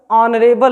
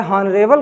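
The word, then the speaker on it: honourable: अब यहाँ पर ऑनरेबल लिखा है, ऑनरेबल क्या है, सही, माने जिसका उच्चारण किससे स्टार्ट होगा, आ से। अगर हॉनरेबल कहते हैं तो वह क्या होगा, गलत होगा।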